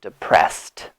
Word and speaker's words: depressed: The ed pronunciation is a T sound, depressed. Why? Because S does not have vibration.